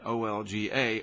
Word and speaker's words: Olga: I do know how do you pronounce that. O-L-G-A, Olga.